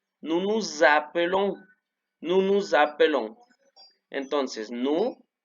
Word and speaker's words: nous appelons: palabra empieza con A, la S se va a pronunciar como habíamos dicho, como Z. Acuérdense que era como un zumbido de abeja. Nous nous appelons.